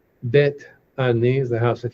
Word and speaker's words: Beth: Now, it's actually pronounced bet.